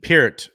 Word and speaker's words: Peart: Hey, Amanda, how do you say that? Neil Peart. Peart is the that official guy, pronunciation.